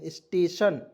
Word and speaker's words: station: यहाँ आप देखेंगे STATION स्टेशन, तो यहाँ आप देखिए एस से आधा स लिखेंगे, TATION स्टे, और देखिए TION अंतिम में रहता है, उसका उच्चारण हो जाएगा सन के रूप में।